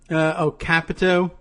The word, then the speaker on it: Capito: Dave Gilligan tells me Capito is pronounced Cap-ito, not emphasis on cap, short I.